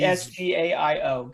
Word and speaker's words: Esgaio: He's Esgaio.